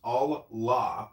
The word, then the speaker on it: Allah: The article the in Arabic is al, A-L. The Arabic and Semitic word for God is ilah. The God in Arabic will be Allah, pronounced Allah, or Allah, which is simply God with a capital G.